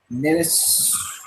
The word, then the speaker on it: Nihilus: Apparently, I mispronounced Nihilus. Nihilus.